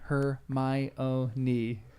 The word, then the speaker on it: Hermione: to say it so she said most people said Hermione and that's how she wrote it in the book of the mispronunciation and then she's like her my own knee I feel like I